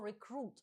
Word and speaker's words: recruit: Зверніть увагу на слово recruit. Воно вимовляється з наголосом на другий склад.